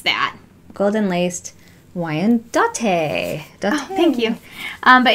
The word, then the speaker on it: Wyandotte: one is the golden lace see burping episode Wyandotte what you pronounce that golden laced wyandottes a thank you but it's like her chicken